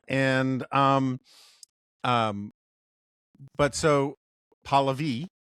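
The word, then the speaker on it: Pahlavi: Um, that I've pron been pronouncing um, Palvi wrong. Uh, I like I always thought it was Pavlavi because that's sort of how it looks on the uh, screen on the page.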